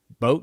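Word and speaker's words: BOTE: stuff and then boat i think it's pronounced boat b-o-t-e the inflatable kayak company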